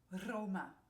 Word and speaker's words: Roma: you say the word Roma, which is Rome in Spanish, yeah? So you roll your R's, and then you say Roma, Roma, Roma.